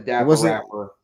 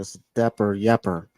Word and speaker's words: Dapper Yapper: I said the Dapper rapper. You said something like that. It's Dapper Yapper.